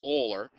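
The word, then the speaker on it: Euler: come up with this guy whose name was oler which is spelled like this okay so that's why we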